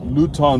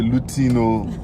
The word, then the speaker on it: Luton: Luton, no, not be Lutino. Luton, eh? So that we pronounce it in the Yoruba way.